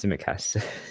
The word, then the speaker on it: Tsimikas: Yeah, I would agree with you with Rudiger, Zubair, because Tsimikas, I don't know how to pronounce his name. Tsimikas. Yeah, it's Tsimikas.